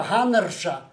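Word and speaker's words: Hannerz: Я би хотів резюмувати, узагальнити в думці одного соціального антрополога шведського Ульфа Ганнерша. Пишеться Ганнерц, Z в кінці, але читається по-шведськи Ганнерш.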